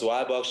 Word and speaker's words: Y box: i saying it right is it we or why why box no it's why box just like wi-fi wi-fi i love it so